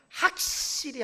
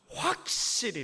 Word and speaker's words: 확실히: 자 의상은 확실 아니라 발음을 잘 해야 되죠 학 씰이 아니라 확실히 입니다 잘 안되시는 분들 계시죠